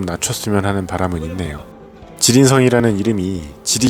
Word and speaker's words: 지린성: 쓰면 하는 바람은 있네요 지린 성 이라는 이름이 gd 게 맛있어서 그런것도 있겠지만 원래는 중국 길림성 을 번체 식으로 발음하면 길림성 간체 식으로 발음하면 지린성 이라네요 여기는 매운맛을 어떻게 하는지